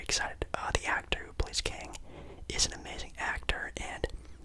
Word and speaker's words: Kang: I think it's Kang. I've heard people pronounce it as Kong, kind of weird, but it's Kang the Conqueror.